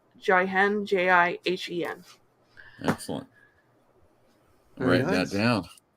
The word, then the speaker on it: Jihen: How do you spell that? Kimono. It is Kemono, Excellent. and then it's Jihen, Jihen.